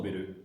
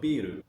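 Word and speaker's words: ビール: So the long vowel is important. If you notice, if you pronounce biru with a short vowel, we'll actually get a different word. Biru means building.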